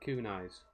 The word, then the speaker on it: kunai: How do you pronounce that? Kunais.